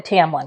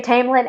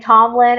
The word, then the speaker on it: Tamlin: I'm still a Tamblin girly. And yes, apparently we've been saying it wrong. That will happen a lot. Uh this is a shout out to Chris, our other best friend. You know, we both say Tamlin and Tomlin and Chris Carex says I am so sorry.